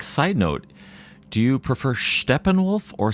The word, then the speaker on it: Staeppanwulf: Do you prefer Staeppanwulf or Staeppanwulf? Either way is fine by me. The correct pronunciation would be Staeppanwulf because it's derived from an Old English prefix.